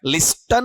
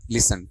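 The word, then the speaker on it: listen: लिस्टन है या लिसन है? लिसन टी आपका साइलेंट रहेगा।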